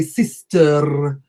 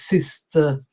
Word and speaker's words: sister: neither do we say sister. So sister is not usually what my students say. They tend to say a sister. Instead, the word is sister, and we pronounce it with an A, sister, sister.